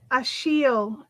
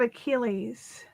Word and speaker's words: Achille: Achille, not Achilles.